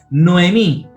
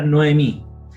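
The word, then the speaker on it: נָעֳמִי: Cuando un kametz precede a un hatef kametz, el kametz se transforma en kametz katán, es decir, en O. Y aquí tenemos el ejemplo. Tesohorayim, mediodía. Noemí, ¿cierto?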